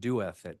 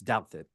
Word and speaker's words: Douthit: They said Dualthit, so it's Douthit.